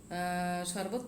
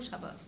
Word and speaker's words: sharbat: উচ্চারণ অবশ্য শরবত বলা যাবে না, শরবত পান করো, বাংলায় আমরা বলবো শরবত, কিন্তু এটাকে ইংলিশে যখন আমরা উচ্চারণ করবো সাবাত।